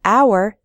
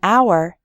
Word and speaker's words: hour: H H sound but in the word hour the H is silent so we say an hour we say a non-governmental